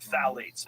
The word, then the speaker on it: phthalates: And when the introduction of phthalates, it starts with a P, P-T-H-A-L-A-T-E-S, I think that's how you spell it. You say phthalates, and phthalates are a